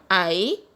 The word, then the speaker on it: hay: So no hay precio para este vestido. I means there is, or there are in Spanish, so it is pronounced as I in Spanish.